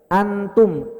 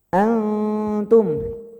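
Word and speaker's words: أنتم: Jadi cara bacanya Pak, N-nya itu, nun-nya itu samar, remang-remang. Jadi jangan baca antum, jangan N. N-nya itu nggak jelas. Antum, antum. N-nya harus nggak jelas.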